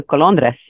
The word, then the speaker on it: Colondres: I'm a Colondres. Colondres. Say that again. Colondres. Colondres. I appreciate you attempting to roll your R.